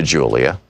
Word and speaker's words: Julia: including a pair of sequined high-top sneakers that Julia had picked out. I began to speak to Julia, pronounced Julia, in Spanish.